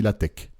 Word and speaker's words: LaTeX: mettez pas au lattech ça s'écrit latex mais on dit la tech voilà mais tu le